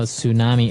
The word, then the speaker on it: tsunami: I know, tsunami. And actually, if you see the spelling, it's with a T, T-S.